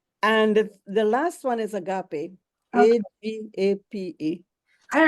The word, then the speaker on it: agape: And the last one is agape.